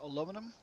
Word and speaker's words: aluminum: So, one is aluminum, two is aluminium. In the UK, it's aluminum.